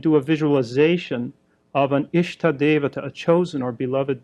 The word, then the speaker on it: Ishta: It's spelled I-S-H-T-A, Ishta.